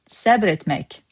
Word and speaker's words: səbr etmək: In Master Azerbaijani word of today, we have for you SÄBR ETMÄK. SÄBR, one syllable, etmek.